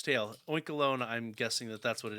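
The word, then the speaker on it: Oinkologne: I'm going to go with Oinkalone. I don't know if I'm saying that wrong, but that's what I'm going to go with anyway, because it's spelled like cologne at the end.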